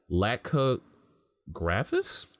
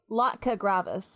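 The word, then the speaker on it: Latka Gravas: was later adopted by look how you pronounced that lack cook graphics we see Latka gravis yeah laka gravis koffice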